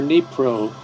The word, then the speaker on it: Dnipro: placement of displaced people in Dnieper or Dnipro, depending on whether you use the Russian or the Ukrainian pronunciation.